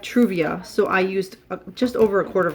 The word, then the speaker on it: Truvia: Why am I saying it wrong? I was going to say struvia. But I have Truvia, so I used just